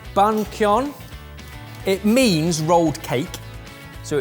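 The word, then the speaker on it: bánh cuốn: So this, I think it's pronounced bun kyon.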